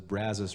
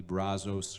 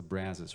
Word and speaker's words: Brazos: River is pronounced the Brazos River not the Brazos River or the Brazos River or the it's the Brazos River and so you just want to say it about as wide as you can and you'll be in